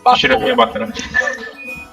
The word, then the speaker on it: Battler: Battler is made of the characters for fight in person, and it's pronounced battle.